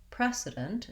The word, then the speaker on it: precedent: which is which because the main difference is simply voicing and also because the spelling isn't very straightforward so the voiceless sound spelled with c the voiced z sound spelled with s the only other difference